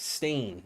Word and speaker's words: Stein: Stein means stone in Norwegian. It's lowkey pronounced like stain.